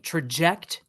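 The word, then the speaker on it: Trajekt: I like this name, Traject Pitching Machine. And you know it's cool, Mike, because it's spelled Trjekt, Traject.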